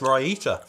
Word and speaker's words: raita: like I can taste raita. If you don't have curry, over here, curry is served with like mango chutney, raita, is that how you say it? Yeah. Which is like a creamy dip, and it's absolutely amazing.